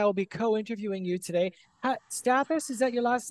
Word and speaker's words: Stathis: Stathis, is that your last name pronunciation?